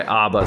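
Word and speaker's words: אבא: So that's why Abba sounds like one B when we say it, right? Right. But it is technically Abba, Abba, Correct.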